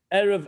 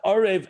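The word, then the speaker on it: ערב: of the letters that we read it erev and boca not arav and bakker so we know what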